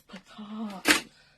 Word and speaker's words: pecan: It's pecan.